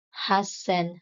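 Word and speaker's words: はっせん: Similar to hundreds, sanzen and hassen have sound changes for easier pronunciation.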